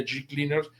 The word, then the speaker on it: G-Cleaners: la tintorería y lavandería G-Cleaners. Se escribe G-Cleaners y se pronuncia G-Cleaner.